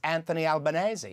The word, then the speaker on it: Anthony Albanese: It's something I find it No, no, his name His His name is pronounced Anthony Albanese.